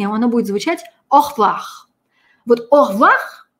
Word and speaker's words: au revoir: А французское слово нужно очень долго репетировать, и оно будет звучать «au revoir». Вот «au revoir» – это «au revoir», который произносим по-русски.